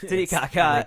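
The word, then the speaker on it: Titicaca: it's not every 12-year-old boy knows how to pronounce this tiaka there we go I was really hoping to something else it's uh tit Kaka tit Kaka resides on the border between Peru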